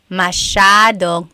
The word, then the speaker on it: masyadong: Masyadong means a lot. So the S-Y-A is a sha sound.